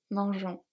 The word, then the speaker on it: mangeons: So you see here the E after G allows the G to stay as a soft G. Otherwise it would be nous mangeons and it's just not a word.